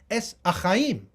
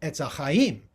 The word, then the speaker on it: Ets Ahaim: Ets Ahaim. The Hey, the fifth letter of the Hebrew alphabet, is silent among the Sephardim. So you say Ets Ahaim.